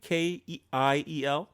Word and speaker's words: Kiel: I'm hoping I'm pronouncing this right where he's from, but Owen will help us. Kiel, Germany. Kiel.